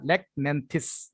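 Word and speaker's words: Lachnanthes: ওকে, তারপর হচ্ছে ল্যাকন্যান্থিস, এইচ এর উচ্চারণ এখানে হবে না, ল্যাকন্যান্থিস রেয়ার মেডিসিন, সিমটম আছে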